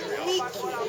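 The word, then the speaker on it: Νίκη: The Greek word is Niki. We don't pronounce I.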